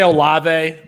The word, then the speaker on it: Olave: And so one is, and I never know how to say his name, Chris Olave. Is that how his name is pronounced? I think we say Olave.